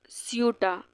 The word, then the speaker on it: Ceuta: दिख रहा है ना, इस एरिया को हम बोलते हैं स्यूटा। स्पेलिंग है CEUTA।